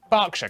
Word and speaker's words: Berkshire: Norwich, Berwick, Southwark, ER is pronounced R. Berkshire, Clerkenwell, Hertfordshire, But before you get too reassured, for every rule Come in the on.